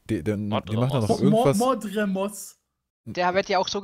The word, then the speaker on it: Mordremoth: Der sagt halt nicht mal Mordremos, sondern Mordremosch.